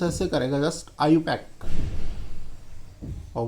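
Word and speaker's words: IUPAC: लेकिन ऑथेंटिक जो प्रोनाउंसिएशन है इसका, जो आईपीएससी को प्रोनाउंस किया जाता है वो आईयूपैक।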